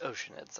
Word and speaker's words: Oceanids: It's pronounced Oceanids. I will hear no other pronunciation.